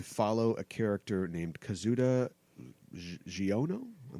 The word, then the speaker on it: Xiono: It'll premiere on Disney XD, and it's going to follow a character named Kazuda Giono. I'm not sure how to pronounce his name. Xiono.